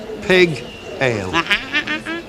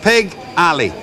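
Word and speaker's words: Pigalle: Now, how do you pronounce that? Pig ale. There's two L's, Stanley. Pig alley. That's it, Chuck.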